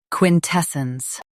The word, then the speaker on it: quintessence: Quin tes sence, quintessence Stress tes and keep sence soft.